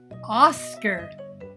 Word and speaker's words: Oscar: Short O vowel sound. Meet Oscar. Oscar. Do you hear the short O sound at the beginning of his name, Oscar?